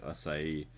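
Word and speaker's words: açaí: I always used to think it was like a kai, but I think it's asai.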